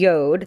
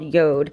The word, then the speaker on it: Jord: be doing and so it's by this company Yoda that's how you pronounce this called Yoda and they're a wooden watch company and so